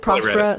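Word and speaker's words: Próspera: team at prosperous but the accent is on the o so like if you know and it's a Spanish-speaking country so I think it's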